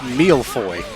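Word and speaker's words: mille-feuille: Pronounced mealfoy, according to Google.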